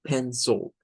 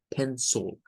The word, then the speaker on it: pencil: Debemos decir como pencil, pencil. It's a pencil. No es pencil, es pencil, pencil. Hey, this is my pencil, pencil. Cuando lo pronunciamos así, pareciera como que suena una U.